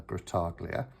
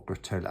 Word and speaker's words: Grottaglia: The artwork is by the renowned artist, Jenna Della Grottaglia, or Grottaglia. I don't know if the G is actually silent, it's Della Grottaglia, or if it's a hard G and it's Della Grottaglia.